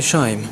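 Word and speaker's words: Shime: Mon pseudonyme est Shaim. Ça s'écrit S-H-I-M-E.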